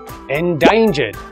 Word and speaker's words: endangered: Endangered is an adjective with three syllables. The second syllable is stressed. Endangered.